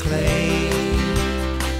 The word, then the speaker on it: Klee: My name's not Klee, it's Klee. It's spelled like Klee, K-L-E-E, but it's not pronounced that way.